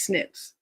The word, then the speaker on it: SNP: have because of these snips. It's a genetic snip. You know, explain it simply. It's stands for single nucleotide polyomorphism. It's the acronym is SNP, but it's pronounced SNIP.